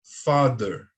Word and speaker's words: father: Father, father.